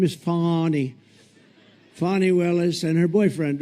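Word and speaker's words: Fani: right has anybody fonnie it's pronounced fonnie F an i that's Fanny but she likes it funny when she became the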